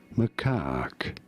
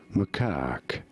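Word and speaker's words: macaque: Macak. You do want to stress on the second syllable on the syllable. Macak. Pretty straightforward once you know. Macak.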